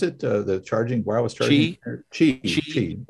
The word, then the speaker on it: Qi: The one thing I've been amazed about this Qi, how do you pronounce it? The charging, wireless charging? Qi.